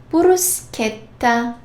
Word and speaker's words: bruschetta: If there is H, H, like chi plus H, sounds like K. Bruschetta. Chiaro.